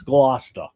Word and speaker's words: Gloucester: It's Gloucester. Gloucester. You guys are gonna be mispronouncing.